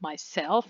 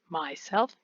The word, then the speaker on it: myself: themselves now the pronunciation the stress is always on the second syllable so it's myself and not myself then the german meaning